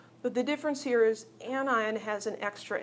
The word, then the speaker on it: anion: Those are pronounced cation and anion. It isn't a cation and an anion.